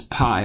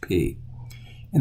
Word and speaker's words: pi: you've seen this is PI like PI R squared but when we're in Greek we pronounce it P just like our English P in the uppercase and the